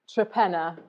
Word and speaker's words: Torpenhow: The village that we farm in is called Trepenna to the locals, but it is spelt Torpenhow. Yeah. And no one really knows why it got shortened to Trepenna, but...